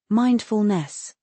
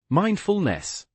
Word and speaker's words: mindfulness: Stress falls on the first syllable. Mindfulness. Mindfulness.